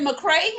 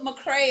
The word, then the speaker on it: McCrea: Is it McCrea? I want to say that right. You said it right. McCrea.